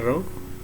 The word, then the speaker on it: rho: Huruf yang seperti P itu bacanya rho.